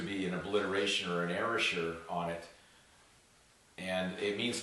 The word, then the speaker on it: erasure: people have pronounced it erasure, but I would feel it better to use the word erasure. It's almost like time, like era, time, sure.